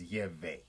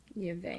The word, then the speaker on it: Yahweh: So the name of our God is Yahweh. What we call what you say Yahweh or Jehovah. The correct pronunciation is Yahweh. Yahweh.